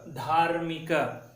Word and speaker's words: धार्मिक: उसी प्रकार धा जमा र की मात्रा जमा मी जमा क, धार्मिक। देखिए आधा र और पूरा मी मिलकर जो है धार्मिक ऐसे बन जाता है।